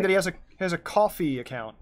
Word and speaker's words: Ko-fi: And yeah, no, Max is saying that he has a coffee account. If it's pronounced coffee, I always want to say Ko-Fi, but it's a coffee.